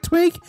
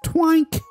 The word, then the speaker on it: Twink: twig but i mean you're pronouncing it like tweak this pronounced twink twunk cool great